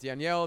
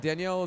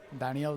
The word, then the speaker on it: Daniel: And Danielle is spelled D A N I E L, but I'm pronouncing it in the European way. That's perfect. It's It's Danielle.